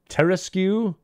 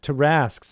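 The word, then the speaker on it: Tarrasque: Does it have the QU actually pronounced as a Terraskew? Yes, I have actually heard someone who says, like, the Terraskew attacks you. I'm like, Terraskew? Never. Yeah, Tarasks is how it should be.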